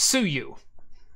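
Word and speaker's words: Suyu: can go try out now uh and it's pronounced exactly the way you think it is it's Sue you sue you classic classic trolling this is why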